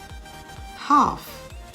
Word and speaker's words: half: ammon a-l-m-o-n-d calm c-a-l-n half h-a-l-f chalk c-h-a-l-k should s-h-o-u-l-t walk w-a-l-k the l in each of these words is silent silent and words autumn